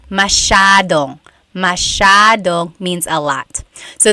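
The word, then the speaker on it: masyado: do you pronounce mashad mashad means a lot so the s y a is a Sha Sha sound masad yep EJ said gami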